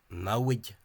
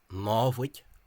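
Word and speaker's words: namhaid: The current Free State Civil Service misspelling is this, which an Ulster person might presume to be pronounced as nawig, but that only suits Munster. The actual form is návig.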